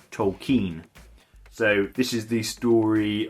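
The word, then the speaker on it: Tolkien: Tolken from 2019 which they do mention numerous times in the film is actually pronounced Tolken.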